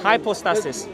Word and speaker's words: hypostasis: Hypostasis.